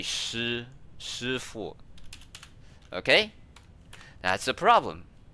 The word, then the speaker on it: Shifu: time they saw this, they pronounce it as she. That's why in Kung Fu Panda, they have this like Master Shifu, but it's actually Shifu.